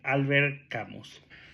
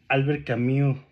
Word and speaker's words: Albert Camus: joya el extranjero de Albert camos o Albert camu como lo pronuncian porque es francés la verdad es que